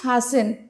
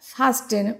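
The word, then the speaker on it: fasten: আচ্ছা, এখানে কিন্তু টি এর যে উচ্চারণটা এটা উচ্চ থাকে, তো আমরা কি বলবো? ফাসেন, নট ফাস্টেন।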